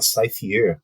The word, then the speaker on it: Cyphre: Ele fala Cypher, né, uma pronúncia mais afrancesada, né, do que seria o nome dele.